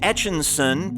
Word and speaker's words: Etchinson: Christopher Towler, Dave Etchinson, parentheses, sounds like Etch-a-Sketch, I got it Dave, Ray Hawley III, J.R.